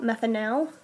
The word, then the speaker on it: methanal: oxygen on it methanol methanal okay I usually pronunciate the AL at the end so that I can tell it from all from alcohol okay so the same thing